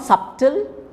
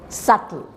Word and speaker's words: subtle: it is a plumber it is not subtle it is subtle subtle then du is always